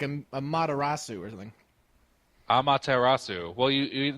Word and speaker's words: Amaterasu: A marasu or something amatarasu well you it's Japanese so you pronounce every syllable yeah I you got